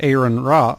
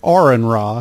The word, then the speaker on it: Aaron Ra: at the conference with Aaron rah I'm sorry Aaron raw he's very particular about the pronunciation of his name we recently aired that